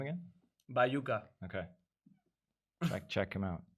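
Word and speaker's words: Baiuca: nice how do you say his name again by yuca okay check check him out check him out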